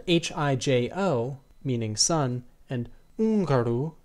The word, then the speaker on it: húngaro: in Portuguese, is a silent letter with no pronunciation, as in hijo, spelled H-I-J-O, meaning son, and húngaro, spelled H-U-acute-N-G-A-R-O, meaning Hungarian.